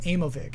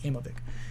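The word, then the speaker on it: Aimovig: can just ask like have you heard of amovig and it's spelled the way it sounds which is hard to spell a-i-m-o-v-i-g i think amoebic um might be effective for you uh okay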